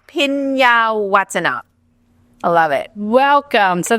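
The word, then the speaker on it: Phinyawatana: Pinyawatana. I love it. That's exactly. The H is silent. Okay, accent on the what? Pinyawatana.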